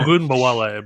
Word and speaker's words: Ogunbowale: Dare O, I can't pronounce his name. I'm sorry. Ogunbowale, bro.